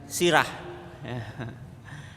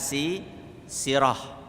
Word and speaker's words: sirah: Bacanya itu bukan sirah. Nanti dikira sirah yang berarti apa? Kepala. Ini bacanya adalah sirah, ya.